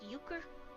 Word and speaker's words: Euchre: playing the Major League oh it's pronounced Euchre okay and I thought Yuko was a card game I do